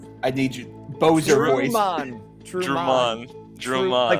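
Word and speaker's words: Trumann: Truman. Drummond. Like Truman, but the emphasis is on man.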